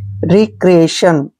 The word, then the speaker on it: रिक्रिएशन: और TION का उच्चारण हमने शन करना है, ठीक है ना, ऐसे ए और साथ में सन, ऐसे। रिक्रिएशन, आप इसको रेक्रिएशन भी पढ़ सकते हैं, रिक्रिएशन भी पढ़ सकते हैं, दोनों ही बिल्कुल करेक्ट हैं, कोई दिक्कत वाली बात नहीं है।